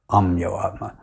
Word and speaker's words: Ameyatma: During my initiation ceremony, this is the way he pronounced it, Amyoatma. Yes. So your spiritual name is Amyo Atma or Amyo Atma. The Atma which cannot be measured.